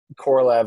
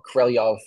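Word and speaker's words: Korolev: that in that video I over and over say I pronounce uh Sergey krelev's name like that with almost like four syllables at a weird like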